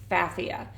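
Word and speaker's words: Pfaffia: kind of fun but just remember that the p is silent so it's spelled the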